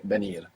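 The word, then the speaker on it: venir: commonly you would hear benir V like a soft B first let's say do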